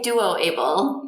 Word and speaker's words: DuoABLE: developing the able and now Duo able or is it pronounced doable project uh we we say Duo able in my lab Duo